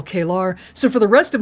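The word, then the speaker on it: K'Ehleyr: The name is pronounced Kelar.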